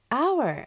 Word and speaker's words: hour: hour とならずに hour となるんですよね。